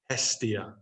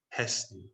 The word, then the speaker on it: Hestia: And the final one, Hestia. Hestia.